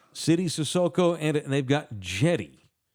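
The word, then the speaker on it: Cedi: sissoko and they've got jetty it's spelled with us it's spelled c-e-d-i Jetty it's pronounced like Jetty like a jetty out in the ocean really Jetty yeah I've always called him setting now it's Jetty just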